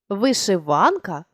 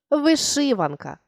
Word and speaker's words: вишиванка: вишивки в сучасному значенні наголос у слові можливий як на другий так і на третій склад Тобто ви можете говорити вишиванка або ж вишиванка і це буде правильно А тепер Дозвольте Я